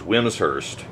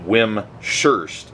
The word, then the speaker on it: Wimshurst: By the way, whimsurst is pronounced whims like to rhyme with hims and hurst. Some people pronounced it whimurst and that is incorrect.